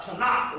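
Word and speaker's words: Tanakh: and the different books in the Hebrew uh Tanaka which is called It's pronounced it's spelled Tacoma but it's called a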